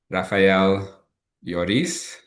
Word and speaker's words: Rafael Ioris: My guest is Raphael Yorice, and you can tell me if I pronounced that correctly.